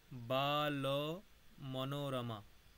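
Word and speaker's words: বালমনোরমা: তত্ত্ববোধি তত্ত্ববোধি উচ্চারণটা হবে বাল মনোরমা বাল মনোরমা ঠিক আছে বাল মনোরমা ওখানে একটা অকার আছে ওই অকারটা উচ্চারণ করতে হবে ঠিক আছে বাল মনোরমা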